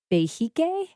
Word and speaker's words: behike: Please correct my pronunciation, that you are a behike? Yes, behike. Very good.